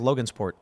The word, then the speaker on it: Logansport: Is it Longsport? I thought it was Logansport. Logansport. I just said it wrong.